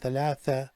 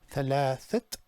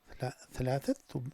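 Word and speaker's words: ثلاثة: The only thing is that we must pronounce the silent T. So here, instead of saying thalatha tullab, it'll be thalathat tullab. Thalathat tullab.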